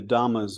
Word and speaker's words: Dhamma: understood to be the Dhamma's way of looking at the world. At the time, I did not know this Pali pronunciation of the more familiar Sanskrit word dharma, referring to the body